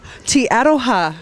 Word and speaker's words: Te Aroha: A little place like Te Aroha, and I say it right. I said it right. Te Aroha, Fletch. What? Te Aroha.